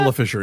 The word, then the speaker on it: Isla Fisher: then like her mom, Isla Fisher? Is that how you pronounce it? Isla Fisher, yeah. Okay. I just looked down and saw the S.